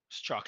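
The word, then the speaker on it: Strzok: at Twitter Mario for what it's worth it's pronounced straw struck thanks bro uh who was our general counsel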